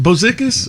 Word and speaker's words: Bozikis: Is it Bozikis? Yeah. Am I saying it right? Yeah, it's Bozikis.